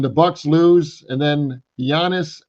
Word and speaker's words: Giannis: And I think Giannis Antetokounmpo.